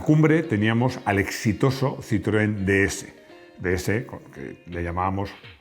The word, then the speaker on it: DS: Y además, DS se pronuncia igual que DS, es decir, diosa.